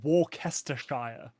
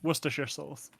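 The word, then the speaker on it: Worcestershire: I win okay because if you said it how it's spelled or anything it would be like warer Shire and yeah no that's that's right out okay that's right out yeah wor your souls what in linguistics we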